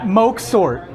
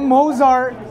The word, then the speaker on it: Moxort: It's pronounced. What are you talking about? Moxort. Okay. Moxort. Not Mozart. No Moxort. Moxort.